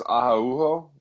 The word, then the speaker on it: Araujo: I think, oddly enough, hers is Araujo. But yeah, because they pronounce those J's like but whatever.